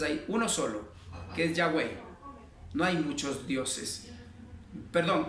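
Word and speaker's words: Yahweh: verdadero nombre y la torá qué quiere decir ya way mis amados hermanos pero si usted se traduce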